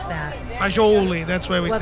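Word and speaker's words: fagioli: I was looking up how to pronounce that. Fajoli, that's why we Well, say that's Fazul how- in dialect. Yeah, fazool is kind of the U.S.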